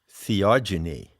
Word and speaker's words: theogeny: ever heard the word theogeny i coined that term when i wrote the seekers handbook it's spelled h e o g e n y genie as in genesis generation epigenesis genetics so what it means